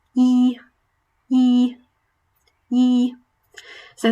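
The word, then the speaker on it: 一: So number 1 is pronounced yi, yi, yi. So the closest English pronunciation we have, I would say, is in the name Saeed.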